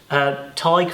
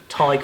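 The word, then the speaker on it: Tadhg: you so much um it's tiger without the Earth so it's TIG I of the tiger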